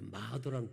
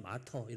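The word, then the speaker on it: martyr: 그게 마도랑 비슷해요. 마도 마토. 영어로는 그냥 거의 거의 마도예요. 마도 마더 뭐 이렇게 영어로 영국식으로 하면 마터이 하는데 발음이 너무 어려워.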